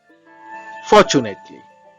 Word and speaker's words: fortunately: Fortunately. Fortunately. Fortunately. Repeat after me. Fortunately. For. R is silent. R sound is silent.